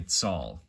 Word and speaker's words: Tal: And actually, it's spelt out tall, but it's actually tsal, okay?